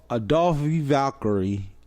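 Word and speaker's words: Aoife Valkyrie: Now, I finally learned the correct way to say the name, and it's Adolphe Valkyrie and versus Aaliyah James.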